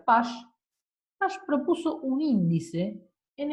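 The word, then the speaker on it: Paasche: que está escrito acá pche se pronuncia Pash Pash propuso un índice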